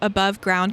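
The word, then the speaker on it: Above GRND: The next coffee shop is called Above Ground Coffee, but it's spelled GRND, and it's located on Flanders and Broadway.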